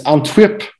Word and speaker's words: Antwerp: Okay, it's Antwerp we pronounce.